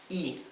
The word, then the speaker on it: y: this IG is pronounced e i i this is a word by itself means the end right A and D the the conjunctive word end this is pronounced e simply e that's all that's the word also